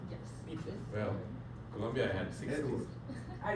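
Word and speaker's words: Pythia: How you spell it? P-Y-T-H-I-A. Pithia. Yes. Pithia.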